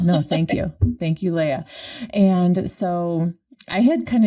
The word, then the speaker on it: Léah: I just want to let you know I do pronounce my name Léah. Léah, thank you. Thank you. Okay, everybody mispronounces it, so don't worry. Yeah, I love it. No, thank you. Thank you, Léah.